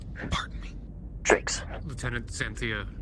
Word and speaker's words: Drakeson: You're getting my last name wrong. Pardon me. Drakeson. Lieutenant Xanthia Drakeson, sir.